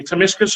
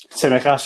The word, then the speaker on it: Tsimikas: Timiskas, is it? Tsimikas, yeah.